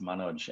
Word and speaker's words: Manoj: Yeah, it's actually pronounced Manoj, and it was given to me by my auntie, who was in love with an Indian movie star.